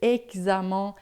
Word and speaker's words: examen: Então, todas as vezes que você vê o X em francês, é sempre som de xi, tá? Então, expliquer, exercice, examen, texte, tá?